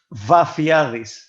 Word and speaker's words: Vafeiadis: Vafeiadis. Yeah, underscore Vafeiadis.